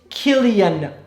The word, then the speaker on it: Cillian: Cillian Murphy been in you can't even pronounce his name right it's Killian Murphy well whatever okay Barbie